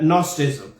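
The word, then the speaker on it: Gnosticism: जो आज भी है, और उसको इंग्लिश में उसे जी साइलेंट के साथ GNOSTICI एम के साथ लिखा गया है, लेकिन इसमें जो जी है वो साइलेंट है। तो बेसिकली ये कुछ प्रोनाउंस होता है नॉस्टिज्म।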